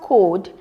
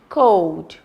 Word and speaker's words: code: look at this words we have Cod oh it's not Cod it's code we have home I